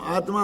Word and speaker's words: आत्मा: क्या होता है दादा उच्चारण में हम आत्मा आत्मा बोलते हैं ना तो वास्तव में पूरे ही ता बोलते हैं अब सीख गए कि नहीं आत्मा में ता आधा होता है तो लिखने में तो